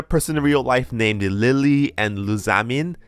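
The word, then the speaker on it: Lillie: name was very irritating it's Lily and loose amen so apparently their correct way to pronounce is Lily and zameen and I pronounced in the video as Lilia Lilia and lasagnine now I have some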